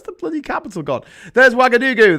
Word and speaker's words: Ouagadougou: There's Ouagadougou. The capital is spelled with an O, not a W. Because, French. That's Ouagadougou.